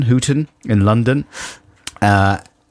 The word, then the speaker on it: Houghton: got a message here yeah from uh Ross Houghton Hooten in London uh h-o-u-g-h-t-o-n Houghton Houghton yeah I'm not very good on